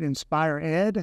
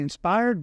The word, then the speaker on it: InspirED: credit for that yeah a lot of people uh pronounce it Inspire Ed yeah and it's actually inspired but Inspire Ed is a great version of it obviously yeah we're